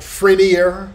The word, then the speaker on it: Frenier: Now, Frenier, it's spelled like Frenier, but it's pronounced Frenier.